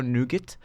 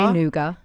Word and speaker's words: nougat: it's like a pistachio nougat. So you have a little bit of of baklava. Say nouga. Nouga. Yeah. The t is silent in Australia.